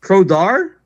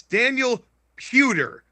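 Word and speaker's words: Daniel Puder: Well, how is it pronounced? Prodar. No. Yeah. No. No. Okay. Yeah. I'm I'm going to give the I'm giving you both the points here because you're both close, but it's Daniel Pewer.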